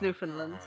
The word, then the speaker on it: Newfoundland: It's pronounced Newfoundland.